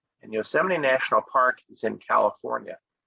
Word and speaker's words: Yosemite: one is is called yosemite it's not it's pronounced slightly different than the way it's uh spelled here and yosemite national park is in